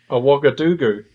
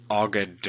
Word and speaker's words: Ouagadougou: How do you say it? Ouagadougou. Ouagadougou.